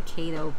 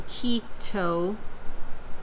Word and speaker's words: Keto: for a long time I called it the Kato plan and that's really wrong I think I had like a really dark spot there and my look anyway so Kido you pronounce a kitto that's how they said in this little thing but i